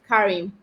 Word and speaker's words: Karim: Okay, so I know when Karim, I got that right, Karim. Is that the right pronunciation?